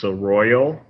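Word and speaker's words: Seroyal: you go to uh the company's name is sir royal um they have some continuing education courses how do you spell that it's s-e-r-o-y-a-l okay cool i'll put a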